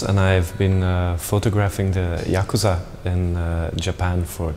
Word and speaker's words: yakuza: The word Yakuza comes from the very old Japanese, where you have the 3 syllables, ya, ku and za, and it's actually 8,